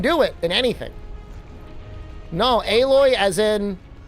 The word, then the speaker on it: Aloy: it in anything no aloy as in like the weird Chucky doll child that existed in Horizon zero doll I would pronounce with two L's that's like alloy right it's aloy right aloy and and